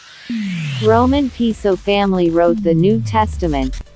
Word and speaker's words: Piso: The New Testament, the Church, and Christianity, were all the creation of the Calpurnius Piso, pronounced Peso with long e, family, who were Roman aristocrats.